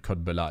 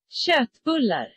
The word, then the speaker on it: Köttbullar: Und Köttbella. Ich spreche das bestimmt falsch aus. Ich habe das noch nie richtig ausgesprochen, möchte ich denken. Komm, das lernen wir jetzt. Köttbullar. Köttbullar. Köttbullar. Okay, Schwedisch. Köttbullar.